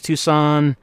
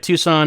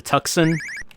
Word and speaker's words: Tucson: booth unfortunately all right Tucson is 4815 Tucson's nice as as long as you remember to not pronounce the C but you mean I shouldn't go to tuxen the the anticipation of